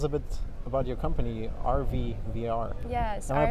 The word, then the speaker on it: ARVI VR: maybe tell us a bit about your company rv vr yes am i pronouncing it right yes rvvr so rvr is